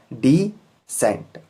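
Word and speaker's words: descent: जैसे डिसेंट, यहाँ पर ई से पहले सी है तो यहाँ पर भी सी साइलेंट रहेगा, डिसेंट।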